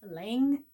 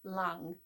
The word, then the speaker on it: Lang: keep hearing people pronounce this as Lang Yarns it's long Yarns it's a German company Long which is actually